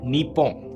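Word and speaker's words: Nippon: बाहर नहीं आ सकती अगर आप इसे इंग्लिश में लिखा हुआ देखोगे तो आप इसे निप्पो करके प्रोनाउंस करोगे लेकिन असली प्रोनाउंस एशन इसकी नी पो होगी ऐसे ही चाइना के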